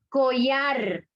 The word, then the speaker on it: collar: Collar.